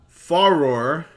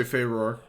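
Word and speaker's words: Farore: Faror, which is how I've always pronounced it, the goddess of courage. Some people say Faror. I don't think there's an official one.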